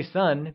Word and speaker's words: sì: 4 translates to S and is said with a falling tone. Can you try and say S? Good work!5 translates to 五 and is said with a falling, rising tone.